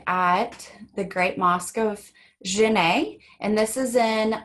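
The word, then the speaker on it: Djenné: the great mosque of djenne a and this is in Mali it's pronounced Jenay so this is an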